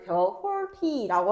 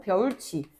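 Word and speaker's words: 벼훑이: 구지 이뿐만 아니라 벼 훌 이도 마찬가지로 발음할 때 벼홀티라고 하지 않고 벼울치 벼울 치 이런 곁받침 같은 경우에도 연음으로 이어져야 되는데 연음으로 이어져야 되는데 티이 이모음을 만나서 벼울 치가 되는 것이에요.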